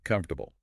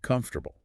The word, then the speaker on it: comfortable: Now, if you look at the spelling, it looks like comfortable. Mm-hmm. 4 syllables. Mm-hmm. There. Seems straightforward. But in natural, everyday speech, it's often closer to comfortable. Just 3 sound units.